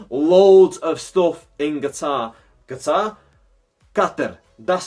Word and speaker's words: Qatar: Qatar. That's how you actually pronounce it. Qatar, a lot of people are calling it, but Qatar is how you pronounce it.